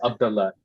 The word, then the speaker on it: Abdallah: messed my name so that's really cool it's pronounced Abdullah a d a l l h Abdullah okay